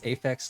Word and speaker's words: Aphex: dude dude's name is Aphex Logan it's like Apex but with an H in the middle from the start oh